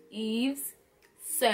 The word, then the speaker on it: Yves Saint: s AI NC is you don't pronounce the T leave the tea out of it act like you don't see that siècle T is Casper the ghost it is invisible so it's Eve's sick so like you know act like you're joseline Hernandez you're not pronouncing the whole word correctly and you're cutting off the ending so it is Eve sin it say Laura again